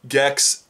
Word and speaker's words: Gex: I'm actually talking about Gex the Gecko. Three letters, one syllable, rhymes with sex, though it's anything but sex. Gex the fucking Gecko.